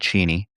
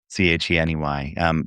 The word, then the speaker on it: Cheney: And Cheney, like Dick Cheney. Uh, anyway, Cheney.